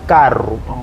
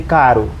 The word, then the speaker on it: carro: Então, por isso é que alguns têm dificuldade em pronunciar carro. Dizem caro. Não é que ele esteja errado, é porque a zona de articulação do aparelho fonador dele ou dela, em vez de usar o R vibrante e o R menos vibrante, faz essa troca.